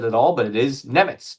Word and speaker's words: Nemec: As Parker Wright says, and I'm sorry if I mispronounce it at all, but it is Nemec.